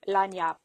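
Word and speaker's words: lagniappe: L A G N I A P P E. And that spells lanyap.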